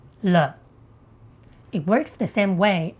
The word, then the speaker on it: 了: So it is pronounced L.